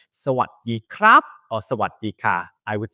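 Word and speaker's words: สวัสดีครับ: Sawadee krap.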